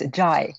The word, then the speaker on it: Zhai: Cynthia Zhai. And is that the correct pronunciation of your last name, Cynthia? It's Zhai.